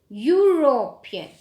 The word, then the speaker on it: European: But no, it is uniform, European. The sound is U, so we are using a, not an.